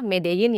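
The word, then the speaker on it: Medellín: menengah bawah di kota medeyin tulisannya sih medelin tapi dibacanya medein ya guys kota medin ini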